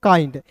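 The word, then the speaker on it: kind: उसके बाद देखिए यहाँ पे के का क होता है दोस्तों, और आई एन डी है, किसी भी वर्ड्स के अंतिम में आई एन डी दिखेगा तो याद रखिएगा उसका उच्चारण आइंड के रूप में कीजिएगा। तो के आई एन डी को क्या पढ़ेंगे दोस्तों, काइंड।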